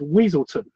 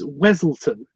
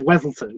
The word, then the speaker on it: Weselton: weasel weasel no they keep mispronouncing his name as weaselton when it's it's weselton you know he's like the Duke of weselton you know when somebody